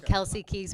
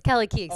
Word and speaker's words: Kelly Keegs: say wrong Kelsey Kings yeah you're calling me Kelsey Keys when you know my name is Kelly Keith is that Kelsey Kelly how do you say it's Kelly Keys healthy healthy debate just just don't just don't